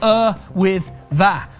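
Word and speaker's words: Yr Wyddfa: prefer snowden or erwither spelt y-r-w-y-d-d-f-a but pronounced er with that i'm reliably informed let's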